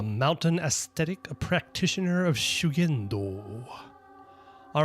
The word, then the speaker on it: Shugendo: Usually this would be pronounced as shu with a long u, but it's just shu. And then this would be ken, but it's gen. And then ja, sha.